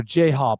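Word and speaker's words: J-Hope: members are Jhop, RM, Jong, Cu, Jin, Z, Suga, and V. So, totally pronounced properly, I'm sure. Oh, yeah. Oh my goodness. The one is Jhop. It's J-Hop.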